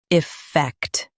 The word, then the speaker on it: effect: Stress fact and keep I light.